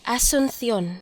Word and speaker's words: Asunción: Okay, I also want to learn how to pronounce Paraguay's capital. Spanish, Asunción. Asunción.